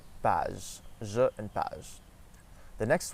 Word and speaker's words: page: So we say je and page, je and page.